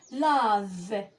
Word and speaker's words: lave: V donc E في آخر الكلمة لا أنطقها. donc لا V. لدي هنا la lettre V la consonne V. lave lave يعني يغسل.